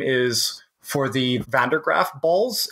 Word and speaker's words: Graaf: Yeah, it's called Graaf. Many people probably would wonder, like, what does that mean? The actual origin or the idea behind the name is for the Van der Graaf balls.